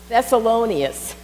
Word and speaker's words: Thessalonians: best solonius that's it I knew the accent was on the loan thessalonians chapter 5 verse 18